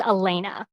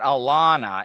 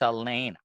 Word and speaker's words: Elena: So my first name is pronounced Elena. Elena. Okay. So it's not Alana, it's Elena. Yeah, hard I on that.